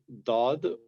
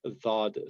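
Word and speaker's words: ض: It can be pronounced as dad or dhad. So this again is like a hard, you can say a soft D in English, and a little bit closeness to if you're in between the again sound in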